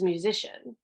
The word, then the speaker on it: musician: Oh, well, now that C is followed by an I. So it's going to be a soft C. This is musician, right?